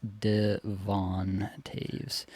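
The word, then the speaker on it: Devon Toews: Are you drafting Devon Taves? Is is this a draftable defenseman? uh confirmed with the 2024 25 NHL pronunciation guide, it is Devon Taves.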